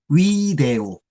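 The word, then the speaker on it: video: 그래서 위데오. 라틴어에서는 V를 우라고 발음한다고 말씀드렸잖아요. 우이니까 위데오가 되는 겁니다.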